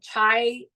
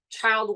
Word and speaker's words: chi: need to sleep um some chai uh practice U Chi practice sorry Mis pronunciation there uh very important you